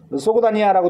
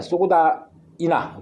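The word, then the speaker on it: 소그디아나: 소고다니아라고 되어 있는데 소고다이나. 그죠? 발음이.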